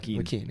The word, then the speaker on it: Lachine: Is it Lachine or Lakeen? Lakeen, yeah. Yeah.